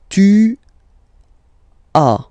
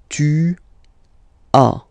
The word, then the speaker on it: tu as: Tu as, okay? As usual in French, final s is not pronounced. Tu as. Tu as, okay?